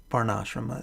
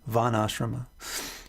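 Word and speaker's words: varnāśrama: what this system vanashrama varnasrama is uh that's funny vanashrama the first ashram the correct pronunciation varnasram if you try to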